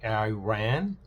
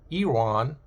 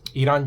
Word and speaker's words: Iran: Because most of the countries who do not like Iran they like to pronounce to say Iran. Why I ran away from there.